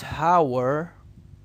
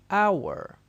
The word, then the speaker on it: hour: the word i want you to try and pronounce this one for me as i write okay this is not hower this is our this is our so i want the meaning